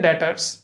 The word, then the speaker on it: debtors: DEBTORS, बट इसमें इसको हम यहाँ पे प्रोनाउंस करते हैं डेटर्स, ठीक है।